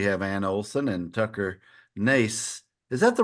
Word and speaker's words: Nace: And today we have Ann Olson and Tucker Nace. Is that the right pronunciation, Tucker? Nace?